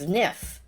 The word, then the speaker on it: Zniw: heroin of the game zff ziff oh I've been pronouncing Z new wrong it's niff all right Z niff Adventures niff is an